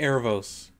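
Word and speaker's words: Aaravos: elf that like they've been working with is azarel is it I'm I'm rough on the pronunciation like Aros Aros thank you Aros is obviously got something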